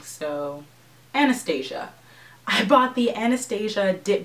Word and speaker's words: Anastasia: Anastasia sounds like I'm trying to be fancy and Anastasia just sounds like I'm saying it wrong. So, Anastasia.